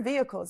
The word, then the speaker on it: vehicles: what I mean here vehicles and we said vehicles are cars Vans lores anything that is on Wheels I say vehicles and here I don't say v i don't pronounce the h Vehicles as if it's